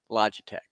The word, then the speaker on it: Logitech: thank you a lot you welcome it is Logitech okay so let me let me just let